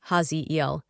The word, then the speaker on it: Haziel: Cosmic ID card name Haziel pronounced Haziel.